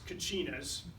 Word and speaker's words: Kachina: It's spelled various ways, sometimes with a CH, but in any case, it's Kachinas.